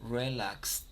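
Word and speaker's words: relaxed: pronunciación no suena la cuando las palabras terminan con Ed normalmente no no suena la e entonces hay relax question How do you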